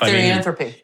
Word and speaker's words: Therianthropy: with the folks from Therianthropy Wines. Did I say it right? You're close enough. Therianthropy. Therianthropy is better, yeah. Okay, I'll say it that way then.